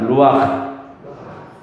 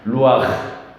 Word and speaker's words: 루아흐: 루아흐. 가래가 좀 끓는다 그러면 아주 발음이 잘하는 겁니다. 루아흐.